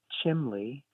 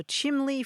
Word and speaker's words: chimley: for me and um my mother's family all used uh the word chimley c h i m l y to talk about the chimney and I I don't